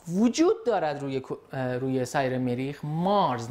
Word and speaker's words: Mars: مارس، نه مارسا، یادتون نره تلفظ صحیح کلمه بسیار بسیار مهمه.